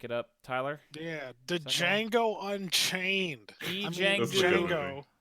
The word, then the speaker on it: Django: up Tyler yeah did Django Unchained the D is silent also another movie with